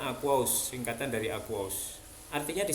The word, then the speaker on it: aqueous: Singkatannya aki, bacanya aqueous, singkatan dari aqueous.